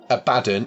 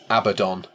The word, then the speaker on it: Abaddon: um so it is um not it's not a badon it's Abaddon so it is like as Wade would call